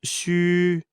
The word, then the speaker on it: 虚: In pinyin, or the standard pronunciation of Chinese phonetic alphabet, the letter X is pronounced as sh in the English word she. U is pronounced as wu in the word wood, but ending with a prolonged I, as in it.